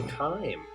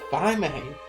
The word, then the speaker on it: thyme: Oh, time. I got it. I always pronounced it Thymane. I've been saying it wrong this whole time.